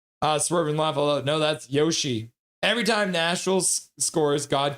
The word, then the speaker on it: Yoshi: Isn't Yosi the dinosaur from Super Mario pronounced? Um Oh, what is it? What's the dinosaur? Yoshi. Whoa, now I'm having a brain fart. Yoshi. Yeah, Yoshi. You missed the H.